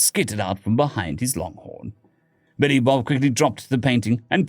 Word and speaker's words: Billy Bob: It's pronounced Billy Bob, the trucker said.